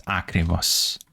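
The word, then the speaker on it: ακριβώς: So it's gonna be akrivos. So the accent in, so the stress is or on, is on or is in. Is on the last syllable, right? Let me fix this. It's akrivos. And then I don't know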